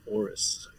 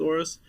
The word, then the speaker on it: AORUS: Help me with the pronunciation there, Kevin. Well, I'm going to go with Aorus.